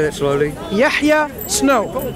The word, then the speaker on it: Yahya: Yahya Snow. How do you spell that?